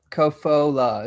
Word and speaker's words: Kofola: what can you say Kofa kofola it's three syllables yeah in Peru they